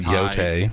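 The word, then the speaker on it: Yōtei: My bad, it's pronounced Yotai, apparently.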